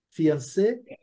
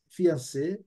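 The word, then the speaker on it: fiancé: coisa horrorosa né e a pronúncia é a mesma fian fian certo isso aqui é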